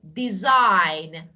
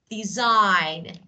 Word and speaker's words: design: the end the word but G is not pronounced so that is silent so because of this